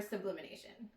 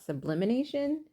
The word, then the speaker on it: sublimation: So let's get started and see how our first project comes out for sublimation. So it would probably help if I said it right. It's sublimation and not sublimination.